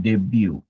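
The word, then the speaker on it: debut: इसमें याद रखा देखिए बी ई बी यू टी जो है ना उसको बोलते हैं डेब्यू वहां पे साइलेंट डेब्यू सी इंटरनेशनल एट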